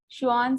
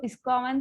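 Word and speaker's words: Schwann: Support sales, श्वान cells, इसको स्क्वामन cell नहीं पढ़ेंगे, श्वान सेल पढ़ेंगे, सी साइलेंट।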